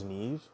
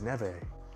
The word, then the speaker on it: Neve: we have um Neve I thought it was an eve but um I put it uh in uh and uh texts to speech for how to pronounce it and they said that her name was Neve I'm like interesting so